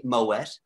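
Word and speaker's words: Moët: a that says it's actually moet anderson did you have i bet you have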